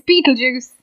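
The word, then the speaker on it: Betelgeuse: I saying it right no say what it's Beetle Juice I don't know what you're trying to say you pronounce you say it too many more times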